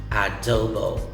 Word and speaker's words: adobo: word it's pronounced as adobo you can say uh do bo so the letter o's have the long vowel sound of o dobo adobo okay that's which is